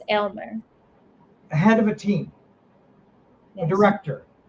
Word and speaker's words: Aylmer: You pronounce it Y, she says. Yes, Aylmer.